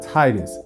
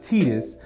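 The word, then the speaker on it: Tidus: you start off with titus yes Titus it's not tedious people say teenis I say Titus depending on where you're going from titãs is how it's supposed to be pronounced the whole game wraps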